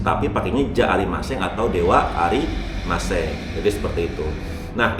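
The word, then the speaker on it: では: Nah, itu dewa juga tulisannya DH. Ya, DH tapi dibacanya wa.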